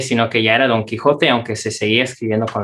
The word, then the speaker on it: Quixote: grande aquí es don quijote muchas personas quizás se preguntan por qué sale con xy se pronuncia con con jota y la razón es